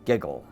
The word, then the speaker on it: WGJL: you have been watching the station wgjl pronounced giggle thank you for watching